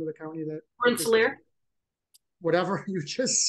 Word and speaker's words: Rensselaer: and I'm not going to be able to pronounce the county, but what is the name of the county that? Rensselaer. Whatever you just said. Rensselaer, yeah.